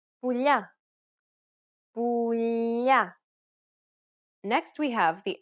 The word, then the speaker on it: πουλιά: In the third case, we have the palatization of the L sound, which results in a sound similar to the gli in the tagliatelle pasta. The tongue is flatter than the regular L because it's pronounced with the middle of the tongue touching the roof of the mouth.